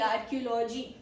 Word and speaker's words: archaeology: Archaeology. Pro tip. CH makes a K sound as usual.